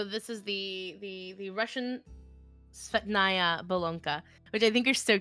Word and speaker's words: Bolonka: The Bolonka offers loyal companionship in a small dog package tailor-made for snuggling on its owner's lap.